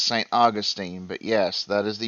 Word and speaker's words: Saint Augustine: Peach and we're going down the line okay Saint Augustine United States and it's actually pronounced Saint Augustine but yes that is the U.S um Nancy